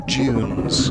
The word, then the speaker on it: dunes: a rocketing over the dunes the dunes as apparently the director of the movie wishes me to pronounce it the junes i'm sorry i've been